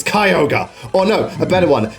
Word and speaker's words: Kyogre: Pokedex pronounces it Kyogre it's not kiyoga it's Kyogre oh no a better